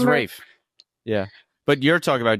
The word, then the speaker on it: Ralph: Yeah, you're just saying it wrong when you say Ralph, dumbass. Really? Yeah. All right, I'm a dumbass. No, it's Rafe.